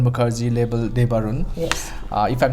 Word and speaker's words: Debarun: We have Debarun Mukherjee, label Debarun. Yes. If I'm pronouncing it correctly.